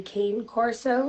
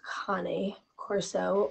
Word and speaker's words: Cane Corso: a lot of people know it as a Cane Corso because it's spelled c-a-n-e but because it is an Italian Mastiff and the name has a Latin derivative it's actually pronounced Connie Corso or um in plural Kane course e with